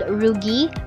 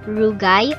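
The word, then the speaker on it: rugae: in which folds called rugi rugai or ruji is present we have heard many pronunciations of this term so you may use any pronunciation that is stated in the dictionary this part is the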